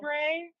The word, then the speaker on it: Brey: Bray or Brey? I read in your Brey. Brey. It looks like Brey.